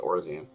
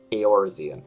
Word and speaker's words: Eorzean: Eorzean. I know they said it previously, but I forgot how it was pronounced. I was pronouncing it just Orzean. Eorzean.